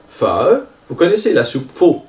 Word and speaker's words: phở: Alors le O avec la virgule, il se prononce comme un E, le E de heure, comme le A accent circonflexe. Un exemple, ça va être la soupe pho.